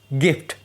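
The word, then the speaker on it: gift: लेकिन एक्सेप्शन भी है। जैसे गिफ्ट। यहां पर जी के बाद आई आया है। लेकिन फिर भी हम इसका उच्चारण ग की तरह कर रहे हैं।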